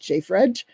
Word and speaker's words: JFREJ: Racial and Economic Justice, which is usually pronounced JFREJ.